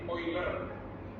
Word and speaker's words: Euler: bukan euler ya Tapi oilerik harusnya membacanya itu oiler bukan euler ya oiler Oi oiler kenapa di situ muncul